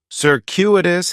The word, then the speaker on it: circuitous: on with the pronunciation in the first syllable that c is going to have more of an S sound circuitous the stress is going to be on that second syllable and that CU is kind of like you're saying the letter Q circuitous circus is talking